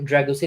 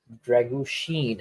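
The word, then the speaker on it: Drăgușin: actually Dragusin is winning the balls in the air. Dragushin, actually, apparently, that's how it's pronounced. Yeah, it's Sheen like Charlie Sheen.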